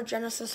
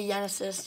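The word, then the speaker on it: Genesis: I got Regaila Yenisus, or Genisus, however you want to pronounce it. I say Yenisus just because.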